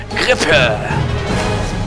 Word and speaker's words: Grippe: It's with your English pronunciation, but I want to go with the German, dude. Let's do that, because that it seems cooler. The German is Grippe.